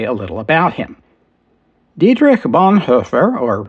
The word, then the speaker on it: Dietrich Bonhoeffer: Dietrich Bonhoeffer, or Dietrich Bonhoeffer as most Americans would pronounce it, was born on February 4th, 1906 in what was then Breslau in Germany.